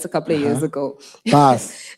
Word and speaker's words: Bas: Bas.